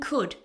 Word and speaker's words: could: This goes the same for would and could. They all have a silent L.